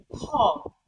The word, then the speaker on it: hall: before you, and you try to pronounce the word Hall, Hall. If the light flickers out, then it means you have pronounced the right thing.